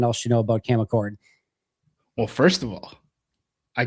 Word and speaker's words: Achord: Cam Achord, interesting hire for Green Bay.